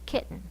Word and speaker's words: kitten: You had the most force at the first syllable and not the last syllable. Because this one had the most force, it keeps its sound. This one, sometimes, not always, but sometimes, will switch to the schwa sound.